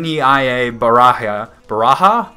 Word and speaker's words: Baraja: n NE a baraha baraha baraja I don't I don't know if you use pronounce it with the J or the ha sound I think it's baraha and yeah Nia I already